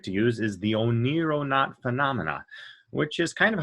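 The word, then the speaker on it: oneironaut: to use is the o nero not phenomena which is kind of hard to pronounce but oniro means greek means dream in greek and not means traveler so the o nero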